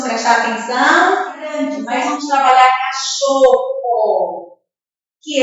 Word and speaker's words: cachorro: Esses dois L's, ele tem som forte. Quando vem dois R's juntos, os dois R's estão juntos, o som é forte.